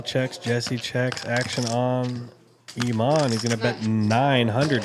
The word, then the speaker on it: Iman: And that is Iman taking another pot down. It's spelled I M A N I believe, but it's pronounced like Iman cuz I asked him, but it's I M.